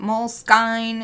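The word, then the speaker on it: Moleskine: it mol skin is it mol skine is it mol skin and there explanation their official explanation like that I'm pretty sure it's on their FAQ on their fact and it's like you could pronounce it however you want that's so funny I've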